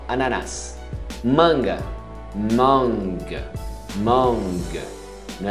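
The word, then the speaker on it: ananas: Ananás. Pronuncia até o S final. Ananás.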